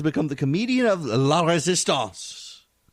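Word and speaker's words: Résistance: Stephen Colbert has become the comedian of La Resistance. And I pronounce it in French because they keep surrendering even if they don't want to.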